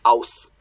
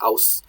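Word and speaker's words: ós: Now, in Old Icelandic, that kind of rounds out and becomes, I guess this would be pronounced aus in modern Icelandic, aus.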